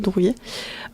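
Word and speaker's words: Druillet: Je prononce bien Drouillet? Oui, Drouillet, oui.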